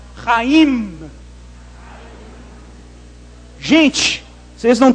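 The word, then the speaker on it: חיים: na época de Jesus esse ra de raim você tem que arranhar a garganta sem dó raim e terminar com m fazendo esse movimento aqui ó raim Gente vocês não t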